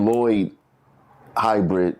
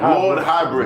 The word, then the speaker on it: Lord Hybrid: It ain't Lloyd Hybrid. It's Lord. Lord. Lord Hybrid.